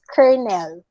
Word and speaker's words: colonel: it's not colonel okay it's not colonel it's kernel very good okay and then amon was also correctly pronounced remember silent el tayo library apparently other